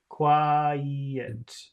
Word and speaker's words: quiet: did she keep quiet Qui there's an e in the middle to separate the two sounds quiet did she keep quiet